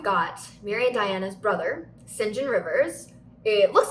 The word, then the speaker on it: St. John: So now we've got Mary and Diana's brother, St. John Rivers. It looks like St. John, but it's actually pronounced St. John, which I didn't know until I watched the movie several years ago.